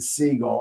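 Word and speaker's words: Sigle: the fact that again his name is pronounced seagull.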